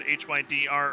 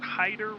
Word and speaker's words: Hyder: I said HYDR earlier, but they would like to pronounce it Hyder Racing 30 Bentley here, currently running around the track.